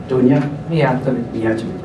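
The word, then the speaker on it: Dunja Mijatović: Dunja Mijatovic.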